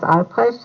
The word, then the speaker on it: Albrecht: Uh, what is the correct pronunciation of your name? Hello, my name is Mrs. Albrecht, and the spelling is Albrecht.